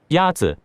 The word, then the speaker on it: 鸭子: Is it 鸭子? 鸭子 is pronounced with a first tone. In Mandarin, there are 4 tones, which are essential to distinguish the meaning of words. The first tone is a high-level tone.